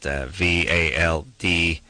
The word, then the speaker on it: Valderrama: his last name spelled Valderrama. How do you say that? And I just got to roll those R's. You got to say it like you're scoring a soccer goal.